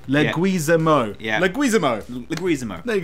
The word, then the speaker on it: Leguizamo: So what is the correct pronunciation, Jay? Leguizamo. Leguizamo.